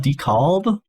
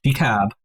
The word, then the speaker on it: DeKalb: I guess you don't pronounce the L. DeKalb.